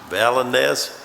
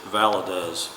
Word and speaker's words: Valadez: uh valent vallad valenez pronounce it for me square gorman it's valadez okay there you go